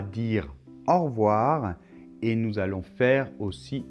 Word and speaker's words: au revoir: le son au alors la lettre v se prononce on a au début la bouche comme ça les dents qui touche la lèvre inférieure aux quais un peu